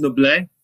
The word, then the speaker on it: Noblit: It's pronounced Noblit. It's French. It's French. And my name is misspelled, but it got Americanized to IT, but it's supposed to be Noblit.